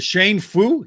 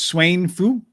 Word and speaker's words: Tsuen Fu: right so we're going to start with the shane foo handicap is that right it means close yeah